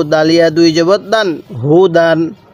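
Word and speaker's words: هُدًى: জবর দান হু দান হুদান অনেকে হয়তো বলবেন যে হুজুর ইয়াটা পড়তেছেন না কেন দেখুন এই ইয়াটা শুধুমাত্র লেখার সময় আসবে পড়ার সময় উচ্চারণে আসবে না তাহলে হুদান পড়ুন হুদান এরকম ভাবে শিখবো এবার আমি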